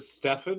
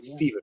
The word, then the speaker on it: Steven: not one of those is it stefan or is it stephen right we're not not you know no definitely stephen we got the first